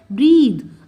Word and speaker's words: breathe: अब ध्यान से सुनिए, BREATH को हम प्रोनाउंस करते हैं ब्रेथ, थ साउंड होती है, जबकि BREATHE इसको हम बोलते हैं ब्रीद, द साउंड होती है।